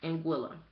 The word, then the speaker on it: Anguilla: In Anguilla, right?